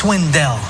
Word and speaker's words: Swindell: Paul Swindell. It's Swindell. Accent on the back half.